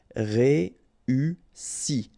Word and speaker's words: réussi: Réussi, okay, first you get this E, then U and double S, so really strong S and E. Réussi, réussi.